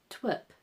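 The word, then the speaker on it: twp: Twip, meaning foolish, stupid, and that is spelt T-W-P.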